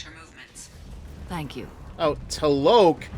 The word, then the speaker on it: T'Loak: However, given the reputation of Ardat Yakshi among the Asari, Arya T'Loak may have tracked her movements. Thank you. Oh, T'Loak? I've been pronouncing it as T-Loak this whole time.